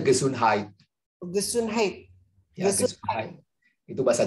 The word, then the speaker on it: Gesundheit: Bacanya Gesundheit.